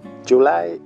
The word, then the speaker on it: July: Recuerda cómo pronunciamos la J en inglés.